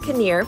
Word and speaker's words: Konia: so good I know I was eating it pronounced caner find this gem at 403 Ron veils Avenue